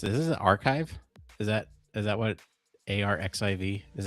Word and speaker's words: arXiv: Archive. That's it. All right. Oh, because the X represents Kai.